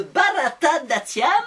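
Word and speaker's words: Bharatanatyam: intéressé à une danse indienne qui s'appelle le barata d'tiam oui c'est bien prononcé c'est bien prononcé merci les six premières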